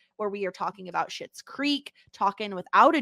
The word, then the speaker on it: Schitt's Creek: we are talking about Schitt's Creek, talking without a G, and shit is spelled SCHITT, like the show Schitt's Creek.